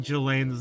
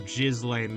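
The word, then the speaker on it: Ghislaine: Also, it another funny thing is that people have a real hard time saying Gilain's name cuz it's spelled like it should be Jiz I welcome Jiz Lane Maxwell.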